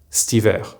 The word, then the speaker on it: cet hiver: For example, cet hiver will be pronounced stiver, and cet été will be pronounced stété.